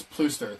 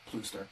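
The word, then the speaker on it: Pluister: To So pronounce my last name, it's Plooster. The UI makes the double O, so just Plooster.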